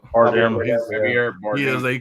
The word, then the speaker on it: Bardem: Javier Bardot. How you say it? Bardem.